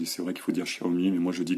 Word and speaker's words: Xiaomi: qui qui me disputent à cause de ma prononciation à la française c'est vrai qu'il faut dire Xiaomi mais moi je dis xiomi excusez-moi mais c'est comme ça alors euh voilà